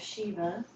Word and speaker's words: Shiva: Yeah, Siva, it's sometimes spelled like that, it would be pronounced Shiva.